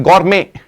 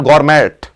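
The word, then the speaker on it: gourmet: last के words है गोरमे T silent है इसमें इट्स नॉट गवर्मेंट इट्स गुर मेंे सो गुरम क्या होता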